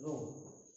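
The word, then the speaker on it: rho: अब हम बात करते हैं तीसरा, आयतनिक आवेश घनत्व, volume charge density, volume charge density रो। हालांकि लिखते हैं रहो, लेकिन पढ़ते हैं रो, एच साइलेंट हो जाता है।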